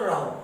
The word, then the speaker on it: rho: अब ये रहो, इसे नाम देते हैं, इसका प्रोनाउंसिएशन है बच्चों रहो, RHO।